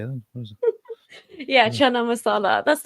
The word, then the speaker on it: chana masala: Chana Mas how do you say that yeah chana masala that's not even British that's that's that's Indian